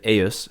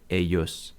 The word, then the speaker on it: ei: the nominative, the genitive eius for all three genders, and that's a two-syllable word, eius, and the dative ei in all genders, and that's two syllables too, although sometimes this word is monosyllabic, ei.